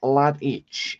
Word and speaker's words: Lesdiy: And then Pan saying Bruce Lesdiy. Ah, right, okay then. So that's how you pronounce it.